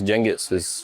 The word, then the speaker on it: Genghis: So, Genghis Genghis, how do you pronounce it? Genghis.